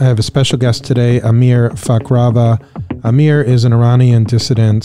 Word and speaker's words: امیر فخرآور: have a special guest here with me today Amir fakrava right am I pronouncing that right that's right right Amir a